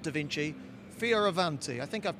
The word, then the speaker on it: Fioravanti: not Da Vinci, Fioravanti. I think I've pronounced it correctly.